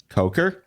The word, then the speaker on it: Coker: The one that sounds like it could be mispronounced. Koker College. Coker.